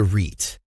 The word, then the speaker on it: REIT: buy real estate investment trusts reits what is a reit reit rhymes with sweet stands for real estate